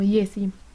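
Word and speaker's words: Jesi: se encuentra en italiano la yota es rara la podemos podemos encontrarla en nombres de persona como jacopo o nombres de ciudad como Yesi la lettera k k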